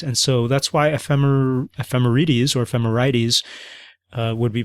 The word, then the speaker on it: ephemerides: Even though it ends in dees or ides, you don't say ides, you don't say aphrodite, you don't say hades, you say aphrodite and hades.